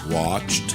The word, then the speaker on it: watched: Les verbes finissant avec le son ch, ch, comme dans search, ça ferait Searched. ou watch. Watched.